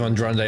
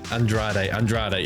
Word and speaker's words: Andrade: Andrade. Yeah, okay. I'm trying to pronounce his name. I'm just too used to Andrande, adding in the N like that.